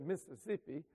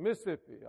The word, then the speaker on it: Mississippi: said i'm from mississippi he mispronounced it he said mississippi you know like some kind of fancy pants person but i was born raised in mississippi all of us know it's three syllables you know we southerners